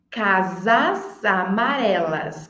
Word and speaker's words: casas amarelas: aí em voz alta provavelmente você falou casas amarelas casas amarelas casas amarelas o som não saiu com s saiu com z cas casas aí juntando